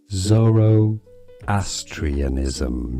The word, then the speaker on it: Zoroastrianism: Let's learn how to pronounce this curious name. Zoroastrianism.